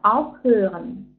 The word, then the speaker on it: aufhören: Mit Dativ aufhören. Обратите ваше внимание, опять-таки приставку у нас отделяемая, поэтому ударение на первый слог.